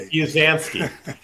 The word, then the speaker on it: Busansky: And it's Busansky.